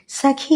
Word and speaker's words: സുഖം: ഈ വരികളിൽ സഖി എന്ന വാക്കിൻ്റെ ഉച്ചാരണം ശ്രദ്ധിക്കൂ.